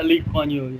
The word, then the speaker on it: Lee Kuan Yew: Like Lee Kuan Yew, is that how it's pronounced? Yeah, Lee Kuan Yew, yeah.